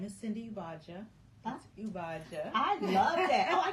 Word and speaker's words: Ugbaja: about yourself okay so my name is Cindy iaj I love that oh I can do that